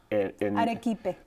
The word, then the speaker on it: arequipe: Arequipe.